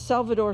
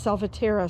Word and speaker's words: Salvatierra: Instead of Salvador Select, it's Salvatierra Select.